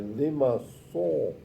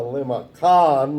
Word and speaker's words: limaçon: So it's it's a limaçon, not a limacon like Germans say, as a French person would say, view this. Okay, so it's a soft C.